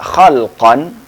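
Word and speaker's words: خَلْقًا: kata Kho lam qof kalau dibaca khalqan maka itu yang dimaksud adalah fisik tapi kalau bacanya khuluqon berarti yang dimaksud yang dimaksud adalah akhlak nah ini bahasa Arab memang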